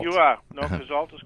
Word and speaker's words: Cazeault: Am I pronouncing it right? Cazalt. You are. No, Cazalt is correct.